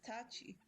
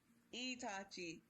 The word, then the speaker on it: Itachi: Wait, who is Tachi? No, it's Itachi. Itachi.